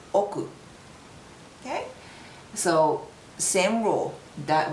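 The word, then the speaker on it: 億: another uh comma and after that it's called oku okay so same Ru that will be right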